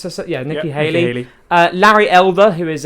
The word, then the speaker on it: Nikki Haley: Nikki uh he Haley is that how you pronounce this yeah Nikki Haley uh Larry Elder who is a uh Fox